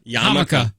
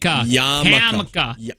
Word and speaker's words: yarmulke: Yarmulke. Hammock. Hammock. Yarmulke. Not hammock. Yarmulke. That's cruel for it to be called a hammock. Oh, you think you know how to pronounce that? It's yarmulke.